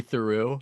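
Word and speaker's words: Theroux: Well, that I interview high schoolers like a Louis Theu. Is that how you say his name? I have no idea. He said, you said it right. It's Theu. Yeah.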